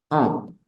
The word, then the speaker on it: un: se Let u n y su pronunciación es on o de aco Ese es el número un ojo esta n no suena es un sonido nasal o o pero cuando